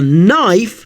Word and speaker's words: knife: This is another example of the KN string in which the K is silent.